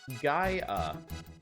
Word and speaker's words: Gaia: get it out of the way next month pronounced GA the illusion of Gaia is 16 megabits of